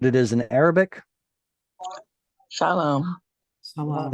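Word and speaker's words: سلام: Salam. It's salam. Salam, with a long ah sound.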